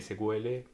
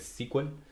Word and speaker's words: SQL: personas que les gusta Llamar a Este lenguaje sql versus los que les gusta decirles squel eh si les interesa eh nos lleva a